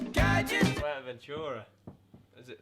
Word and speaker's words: Fuerteventura: Fuerteventura. Is that how you say it? Yeah, Fuerteventura.